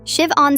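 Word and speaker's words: Siobhan: Shiv-on Smith. Perfect pronunciation.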